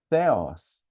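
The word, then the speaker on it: θεός: Por exemplo, a palavra teó, ou a gente diz teus em grego, seria na verdade um com th, com o teta, com a a língua e o dente. Seriaos. Theos, igual o americano teologia, eles dizem theology.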